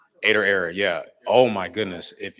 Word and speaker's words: Ader Error: thinking about clothing it's it's pronounced or it's pronounced aoo but you can you spell it ad d r and then error ader error yeah oh my goodness